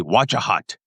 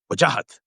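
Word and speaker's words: Wajahat: Okay, this is how you pronounce it. If you want to be a a Midwestern safe white teacher, you'd say wajahhat.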